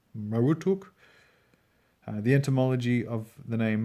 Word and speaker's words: Marduk: might say the lame named Marduk was probably pronounced Mara talk Maru took the entomology of the